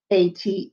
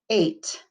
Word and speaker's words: ate: eight a t e a t e make sure you put that silent e at the end or it will say at we don't want it to say at we want to say eight number six what do